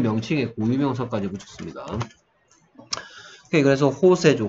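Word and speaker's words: José: 그래서 호세죠, 호세. 뭐 스페인식 발음으로는 J가 H 발음입니다.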